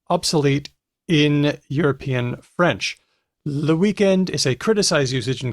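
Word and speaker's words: week-end: word which is pronounced weekend or even weekend there's that omitting the final consonant thing hedvig correctly pointed out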